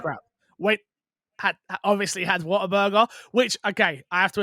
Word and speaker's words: Whataburger: the sun it's like what a burger yeah i'm like oh my god that makes so much more sense but yeah so yeah